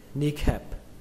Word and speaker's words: kneecap: Cách đọc thứ hai, các bạn có thể đọc âm này thành âm A bẹt, đọc là ni khập. Kneecap.